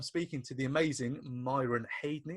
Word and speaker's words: Haydney: Today I'm speaking to the amazing Myron Haydney. Have I pronounced that right, Myron, or have I absolutely butchered that surname? Now you've said that correct, mate. That's perfect.